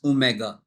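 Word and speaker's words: omega: bye symbol ड एंड you pronounce it एज ओमेगा आपको याद रखना है कि आपने इसको ओमेगा प्रोनाउंस करना है आगे आने वाली क्लास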